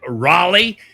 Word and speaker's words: Raleigh: is going to be I think the Americans say it Raleigh in in in South Africa we would say r at the Lenovo Center